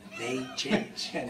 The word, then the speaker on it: Machin: It's pronounced like the month May and the thing on your face chin. May they chin.